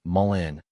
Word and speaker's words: mullein: I pronounce mullen as mullen, which seems to be the most common way I've heard it said among herbal enthusiasts.